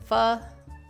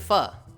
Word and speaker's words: pho: The Vietnamese pronunciation is, yeah, but most Westerners just say pho.